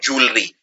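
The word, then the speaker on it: jewellery: वैसे इसको लिखते हैं ज्वेलरी, लेकिन बोलते हैं जूलरी।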